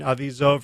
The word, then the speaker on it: Avizov: Donahoe, Blair Seibert, and Doreen Avizov. Rhymes with Keep the Cheese Off, for your generous support of the podcast.